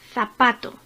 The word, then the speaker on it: zapato: Zapato. Zapato es grave, como acento. Tiene la sílaba tónica en segunda posición.